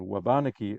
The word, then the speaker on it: Wabanaki: Indina throughout the generations by the way I was recently told by an aeni speaker that this is how abeni and wabanaki are pronounced I hope it's correct that's what I was told uh this event is